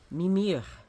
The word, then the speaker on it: Mimir: it will be on mimir M is how he's pronounced emphasis on the first syllable and the howow mimir